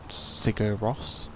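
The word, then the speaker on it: Sigur Rós: of a concert um go and look up cigar Ross um which is spelled s-i-g-u-r-r-o-s um really nice band interesting music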